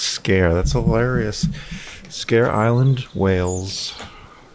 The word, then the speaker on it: Sker: It's literally pronounced scare.